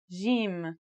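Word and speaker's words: ج: in Standard Arabic and Syrian Arabic it should sound like the J in the word Jam while in Egyptian Arabic it sounds like the G in the word game they're both quite easy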